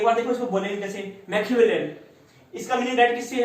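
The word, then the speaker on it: Machiavellian: इसके प्रोनाउंसिएशन में थोड़ी सी कंफ्यूजन हो सकती है, एक बार देखो इसको बोलेंगे कैसे, मैकियावेलियन।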